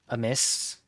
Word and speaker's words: Amiss: I've seen a couple streamers do it, but I watched um Amiss rhymes with Abyss, that's their full username, uh do one recently, and I really I really liked it.